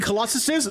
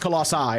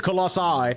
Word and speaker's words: colossi: You mean colossuses? No, it's pronounced colossi. It's plural. The plural is colossi.